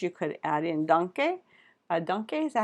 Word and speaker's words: danke: Danke, is that how you say it? Not donkey, but danke.